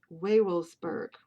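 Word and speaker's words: Wewelsburg: the castle of w-e-w-e-l-s-b-u-r-g the w's being pronounced like v's and the e's being pronounced like a long a so it's werewolves waywolfsburg now vavils vagelsberg germany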